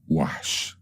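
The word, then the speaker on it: وحش: This is the word wahsh. Wahsh. Waw, ha, sheen. Waw with a fatha, ha with a sukoon, sheen with a sukoon again.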